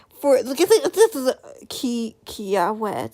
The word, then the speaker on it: Kiawe: But instead of doing something for, look at this is Kiawe, that's how you pronounce it, twin, / lighthearted / silly, Kiawe.